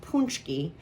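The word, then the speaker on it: pączki: So it's pronounced punchki.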